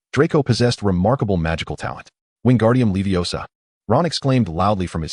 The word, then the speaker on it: Wingardium Leviosa: It's Wingardium Leviosa, and the Leviosa needs to be pronounced long and clear.